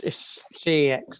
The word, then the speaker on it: CeX: CX or sex or seeks? Well, it's CEX. I say CEX.